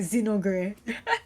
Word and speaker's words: Zenogre: It looks like Zin Ogre, but I'm also pronouncing the O, so it's like Zenogre versus Singapore's one and only Ru.